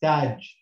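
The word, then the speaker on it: تاج: This ta has got fatha and it's elongated by the alif vowel. So it's ta, and the last letter here is a ja, but it's got no sign, so it must be silent. So I read this as taj.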